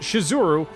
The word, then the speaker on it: Shizuru: them warn me that the name of the goddess is actually spelled and pronounced shizuru or that misspelling it